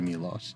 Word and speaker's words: Milos: So yeah, Milos here, I learned, his name is in fact pronounced something akin to Milos.